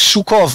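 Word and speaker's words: Жуков: Ist übrigens, der Name spricht sich Schukow, ist wie der General, der Berlin eingenommen hat, verstehst du?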